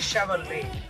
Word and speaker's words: Chevrolet: Actually, the Chevrolet is written as Chevrolet, but the T is silent and you should say it as Chevrolet.